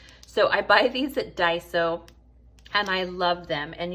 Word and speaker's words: Daiso: look at me pronouncing daiso correctly you know how i figured it out i want to say dyson vacuum cleaners and so instead of saying dyson i say daiso and drop the n that's thanks to bella